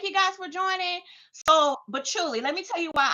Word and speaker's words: patchouli: Yes, yes, patchouli, yes.